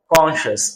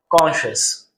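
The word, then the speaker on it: conscious: जैसे CONCIOUS, आप देख सकते हो यहां पर CI है, इस CI की वजह से इसे श पढ़ा जाएगा, यानी कि इसका प्रोनाउंसिएशन क्या हुआ, कॉन्शियस। I repeat, कॉन्शियस। Next आप देख सकते हो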